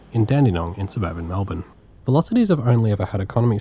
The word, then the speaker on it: VLocity: And yes, this isn't a typo, it's spelt like that with a capital VL for V-Line, I guess.